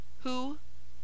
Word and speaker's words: who: U French o u in the following words W is silent who whom who oo hoop whole H after R has